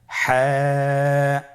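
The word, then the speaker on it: حاء: হা হরফটি কিভাবে উচ্চারিত হবে? হা হরফটি উচ্চারিত হবে কন্ঠনালীর মধ্যখান হতে।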